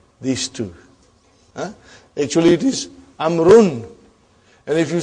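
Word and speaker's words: عمرو: It is not read. It is not pronounced. It is only written. Why? Just to differentiate between these two. Actually, it is Amrun.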